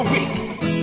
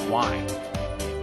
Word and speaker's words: Wii: one would buy well let's get the show on the road Lise is our first guest today notice the fact that I pronounce it we and not why Nintendo decided to name